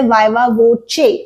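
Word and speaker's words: viva voce: पहली बात तो ये वॉइस नहीं है, there is नो I hair, this is an Italian phrase, और ऑफ कोर्स इसका मतलब है ओरल एग्जामिनेशन, और इसे कहा जाता है वाइवा वोचे और वोची। ये इटालियन फ्रेज है, इसलिए the pronunciation is a little different.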